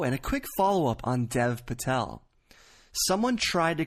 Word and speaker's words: Dev Patel: but he would say Dave Patel instead of Dev Patel well apparently to Hindi speakers they do pronounce Dev as Dave I'm not going to